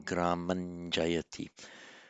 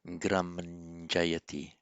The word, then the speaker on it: gramam jayati: following, viro mama, then graman jayati. the final M becomes Anuswara. And here, look, it's pronounced as a palatal N because of the following J. So it would be pronounced Gramanjayati.